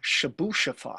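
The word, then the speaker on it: Chebyshev: and if you saw that how would you pronounce it that that's what i would say too it's actually the shabu-shafa theorem and if you think that was a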